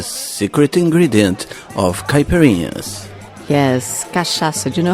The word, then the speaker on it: cachaça: Yes, cachaça. Do you know how to spell that?